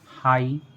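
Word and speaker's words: high: जैसे हाई, Sai, Thai. इन सभी words में वर्ड के लास्ट में जी एच आया है और जी एच को हमने नहीं पढ़ा है।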